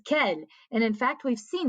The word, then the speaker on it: quel: is q-u-e-l and again it's not quell no anytime we have that q u in french it is the k sound so this is ken and in fact we've